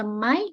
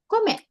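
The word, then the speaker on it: 米: Bisa dibaca may, bisa dibaca be. Oke. Kalau sendirian dibacanya komet.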